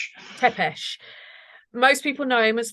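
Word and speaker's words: Țepeș: Tepeesh. Tepeesh.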